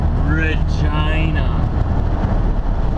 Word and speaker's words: Regina: capital of saskatch one Regina Regina with an R that's how you pronounce it yes I keep getting